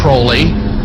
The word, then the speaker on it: Crowley: he likes to bring have his name pronounced Crowley to rhyme with holy and the satanists today